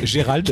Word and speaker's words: Gérald: Moi j'ai toujours lu Gerald, donc j'ai toujours lu Gerald. Oui, mais voilà, j'étais très étonné d'entendre il s'appelle Gérald.